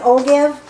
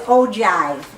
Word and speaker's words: ogive: uh-huh cumulative distribution and it looks like I'll give but it's ogive is how that's pronounced oh yeah yeah so